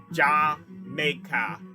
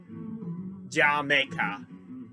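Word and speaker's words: D'yer Mak'er: I actually read a thing where Robert Plant says that it's supposed to be said sort of with a British accent. So, Jamaica. Jamaica. Kind of a little bit of a pun.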